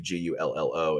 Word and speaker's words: Gullo: Gullo is how you say it.